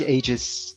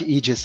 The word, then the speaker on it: Aegis: where I do like Aegis. That's how you pronounce it, right? Aegis. Close enough, yeah. On the dual vowel, it's usually the second vowel that gets the hard sound.